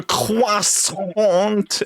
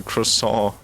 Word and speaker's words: croissant: A croissant, as an American would pronounce it.